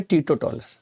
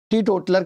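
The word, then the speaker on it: teetotaler: तो आई एम ए टीटो टॉलर, real टीटो टॉलर। टी टोटलर कहते हैं, हम टीटो टॉलर कहते हैं, हमारा अपना अलग है प्रोनाउंसिएशन।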